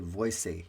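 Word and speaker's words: Voysey: architects herbert buckland and cfa voice v-o-y-s-e-y is how his last name is spelled two very influential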